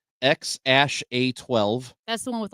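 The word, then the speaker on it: X Æ A-Xii: This one is spelled, it's got Roman numerals in it, but it is pronounced X-A12.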